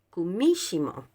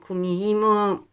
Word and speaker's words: kumihimo: un telar japonés vale Y en japonés en verdad se pronuncia cumismo pues Y nosotros pues como dijimos comimos en fin es un